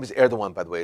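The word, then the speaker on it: Erdoğan: dawuan his name is air the one by the way it's spelled air that gonebut air Dhawan is how we pronounce it in Turkish he's the president of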